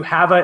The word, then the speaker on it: Hava: If you have never heard of Have a Heart Dog Foundation and Rescue, Hava is spelled H-A-V-A. It's like have a heart, but it's like Havanese is where she started.